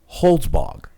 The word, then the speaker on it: Holzbog: Her name is actually very hard to pronounce. Arabella Holzbog. Holzbog. There you go. Arabella Holzbog.